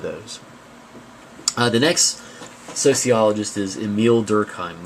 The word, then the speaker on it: Emile: The next sociologist is Emile Durkheim. That's not pronounced Emily, by the way.